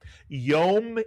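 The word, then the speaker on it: יום: 1 vowel, 1 syllable, a word you've heard often. Yom is correct, and Yom means day.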